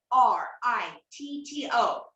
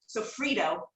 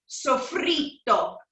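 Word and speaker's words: soffritto: Sofrito. But the Italians don't say it like Sofrito. They pronounce it like there's two T's. Sofrito.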